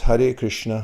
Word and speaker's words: Hare Krishna: the whole mantra looks like this and it's pronounced hare krishna krishna krishna krishna and now i'll i'll sing